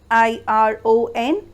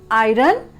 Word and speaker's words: iron: I-R-O-N, and that's why it's mainly mispronounced as iron. But no, my dear friends, it will be iron. Not because of I-R-O-N as iron, it's A-I-I, un, iron.